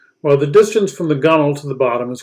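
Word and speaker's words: gunwale: the gull which is spelled g-u-n-w-a-l-e but pronounced gunnel canoes are referred to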